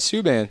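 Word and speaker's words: Subban: and suban I can't am I saying his name wrong no you're saying it right suban s PK suban comes to Nashville best trade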